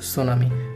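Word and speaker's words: tsunami: সেটিকে যদি আমি বাংলিশ বা ইংলিশ যেভাবে লিখি সেটা হবে টি সান আমি, অর্থাৎ সুনামি। এখানে টি শব্দটির উচ্চারণ নেই, মূল উচ্চারণ হচ্ছে সুনামি।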